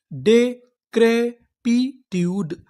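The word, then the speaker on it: decrepitude: मैं आपको बता दूं अगर आपको इंग्लिश की किसी भी मीनिंग के आखिरी में इ लिखा मिले तो हम लोग इ का उच्चारण नहीं करते। हम लोग इ से पहले तक का उच्चारण करते हैं।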